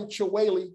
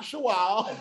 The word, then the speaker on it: Chiwale: Because I'm going to tell y'all, I pronounce my name Chiwale now. But Iman said, but it's Shawal, isn't it? No, it's not Shawal.